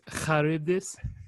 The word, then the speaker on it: Charybdis: Charybdis, depending on how you pronounce it. So if you ever... It is Charybdis.